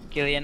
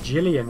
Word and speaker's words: Gillian: think I said it's amazing how many people get my name wrong what do you mean do they like they keep on saying Jillian 11 it's a pronunciation thing again i' had someone